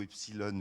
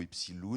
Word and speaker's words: Epsiloon: à ce magazine epsilon qu'on le prononce plutôt epsilon ou epci loup mais on c'est une